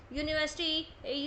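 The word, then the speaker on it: university: आगे देखेंगे also with यूनिवर्सिटी union European तो यहां अगर आप देखोगे तो यह जो साउंड है वो वाई यू की साउंड क्रिएट कर रहे हैं कंसोनेंट साउंड क्रिएट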